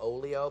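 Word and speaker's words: Oglio: For the other guy, Andy Dick and the Bitches of the Century just signed a 2-CD deal with a company called Olio, but it's spelled O-G-L-I-O.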